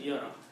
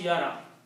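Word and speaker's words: يَرَ: It's easy to pronounce yara. Instead of pronouncing yara, so we just pronounce it, move the sound of hamza, which is fatha, on ra.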